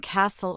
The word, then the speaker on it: castle: It can also be silent as in castle or listen.